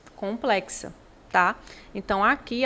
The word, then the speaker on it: complexa: a complexa esse x quando você pronuncia complexa o X Ele tem som de KS É como se você